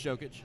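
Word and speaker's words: Jokić: his name right it's why do you say jokic djokovic he's on the nuggets no it's jokic oh it's jokes um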